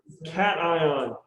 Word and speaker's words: cation: Cation.